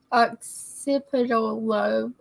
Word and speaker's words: occipital lobe: Occipital lobe.